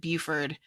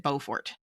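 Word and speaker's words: Beaufort: Everyone here says it Buford. Bufort and he and Google Maps pronounces it Bowfort.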